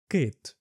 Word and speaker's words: кит: And you got the sound e like in the word kit.